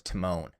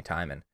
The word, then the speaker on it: Timon: Rafiki and I was Timon which I didn't know Timon was spelled without an e it's just t-i-m-o-n so for a while they were just calling me timing um and then after